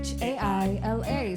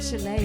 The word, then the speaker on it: Chaila: Chaila. Sound the words out because it's not Chile, it's not Chaila. Not hard pill to swallow. Chaili. Oh, Chaila. Chia.